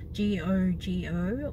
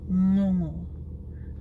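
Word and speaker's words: gogo: you use at the in words like sing or song long yeah so it's um so if you had the word g-o-g-o or no it is pronounced not go go not jojo but no more so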